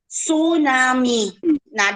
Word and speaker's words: tsunami: tsunami that's pronounced as tsunami oh so tsunami is a japanese word pronounced as tsunami which means wave in the harbor sometimes it is misnamed